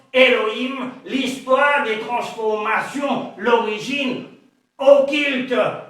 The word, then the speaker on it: Elohim: Dans les systèmes masorétiques, Alhim se prononce Elohim, l'histoire des transformations, l'origine